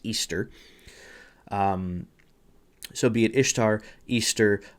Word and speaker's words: Ishtar: goddess as Ishtar, or apparently in the actual language it wouldn't be pronounced Ishtar, even though that's how we spell it. It would actually be pronounced Easter.